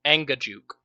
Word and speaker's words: Angajuk: up how do how do you say it properly Anga Juke Ang is anguk a